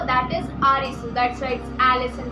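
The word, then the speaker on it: アリス: Actually Alice को अगर हम जापानीज़ में प्रोनाउंस करें तो दैट इज़ आरिसू।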